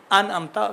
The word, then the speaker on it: انعمت: انعمت کہاں الف ہے یا عین ہے پتہ نہیں چلا. انعمت پہلا والا الف ہے، بات والا عین ہے، لیکن تلفظ بہت اچھا ہے.